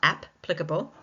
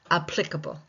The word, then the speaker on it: applicable: Even though there are two P's in the word, we have a silent P.